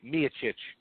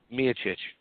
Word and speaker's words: Miocic: was steep a Miocic excuse me me a Chooch I'm going to say his name right unlike a lot of other podcasts me a Chooch needs to go out